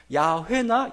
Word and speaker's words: 야훼: 여호와가 아니라는 겁니다. 야훼나 야외가 맞습니다. 그 발음이 더 맞아요.